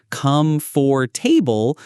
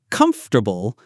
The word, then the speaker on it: comfortable: Yes, and sometimes learners try to say comfortable slowly as come for table, but natives say comfortable.